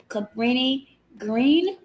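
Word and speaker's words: Cabrini-Green: something called I want to make sure I pronounce it correctly Cabrini Green yeah Cabrini Green was actually one of the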